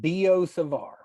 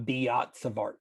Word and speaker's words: Biot-Savart: And that's pronounced Bosavar. So we don't pronounce either of the T's. It's not Bosavar.